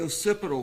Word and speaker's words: occipital: The occipital fracture. Am I saying am I pronouncing that correctly?